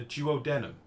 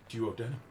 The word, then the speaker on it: duodenum: I'm sure you call it a duodenum. But I think the actual pronunciation, as in from the English dictionary, of which, let's face it, all of your language comes from, is the duodenum.